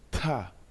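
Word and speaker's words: 大: Dans la langue chinoise, l'initiale D se lit comme le mixte entre la lettre T et D en français.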